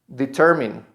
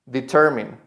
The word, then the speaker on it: determine: Determine. Determine.